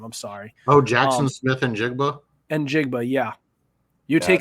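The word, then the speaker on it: Smith-Njigba: that Jackson kid, I don't know how to pronounce his last name. I'm sorry. Oh, Jackson Smith and Jigba.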